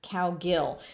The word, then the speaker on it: Cowgill: like you see it so cow is the first syllable it's pronounced cow and gil is the second syllable and it's pronounced gill like how a fish breathes so if you look